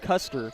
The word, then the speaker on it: Custer: It's actually pronounced Custer, believe it or not. Custer, Yes, okay.